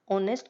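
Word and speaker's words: honest: चाहे ऑनेस्ट में first word H हो, कोई मतलब नहीं है, क्योंकि जो हमारा प्रोनाउंसिएशन है वो मैटर करता है आर्टिकल में, ना कि हमारा वर्ड मैटर करता है।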